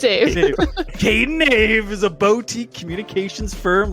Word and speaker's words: Kaden Ave: correcting Brad, because actually I thought it was Av as well, so I would have butchered that. Yeah, it's because my name's Kady and then my business partner is Avery, so it's Kaden Ave, like the two of us, but we were like,